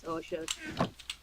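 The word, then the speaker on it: Rocha: a blue sky yeah my name is hosha yeah you got to you got to spell how hosha is spelled r o c h a yeah and then there's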